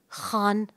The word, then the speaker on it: Khan: करना शुरू किया तो मैंने उसे कहा खान बोलो खान डोंट तुम फ्रेंच मेनू पढ़ सकते हो तो मेरा नाम ले सकते हो मेरा नाम सही प्रोनाउंस करोगे अच्छा व्हाई नॉट बिल्कुल